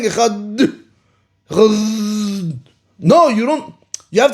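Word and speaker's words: אחד: The dalet has to die out. You cannot pronounce the dalet.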